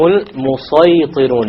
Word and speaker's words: الْمُصَيْطِرُونَ: Notice the sad has a small sin, but this time it is beneath it. So this is to show you, you can use a sin here, but a sad is preferred. It is better to pronounce it as a sad.